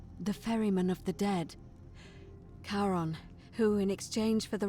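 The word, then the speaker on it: Charon: it's just as you described it only your pronunciation is a little off the name you heard wasn't karen it was c h a c as in caron the ferryman of the dead karon who in exchange for the right coin helps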